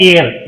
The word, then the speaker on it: heir: इसको प्रोनाउंस करते हैं हेयर, इसको प्रोनाउंस करते हैं एयर, ई के साथ, एच नहीं बोलते इसमें।